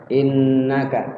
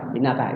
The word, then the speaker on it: innaka: kan sesuai dengan hak-haknya Inna tu ada ada dua nunnya kita bacanya Yang benar kayak gitu tadi yang benar tuh Inna kita baca sal-salan Inna Inna In inaka inaka inaka salah salah Kita tahu cara